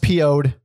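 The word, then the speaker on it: Piouhgd: on to 1991's uh it's pronounced po'd but it's spelled like a word p i o u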